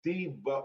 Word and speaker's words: Devo: It ain't Debo. He said he pronounced it. It's Debo. It's Debo with a V instead of a V.